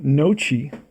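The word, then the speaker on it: Noce: hav't not checked out his name how to pronounce his name okay it is Paul noi I write that down on the card Paul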